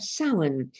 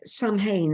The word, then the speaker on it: Samhain: And it's the festival of Samhain, the Samhain as it's spelt, Samhain as it's pronounced, the end of summer, with folk festivals taking place all around the country.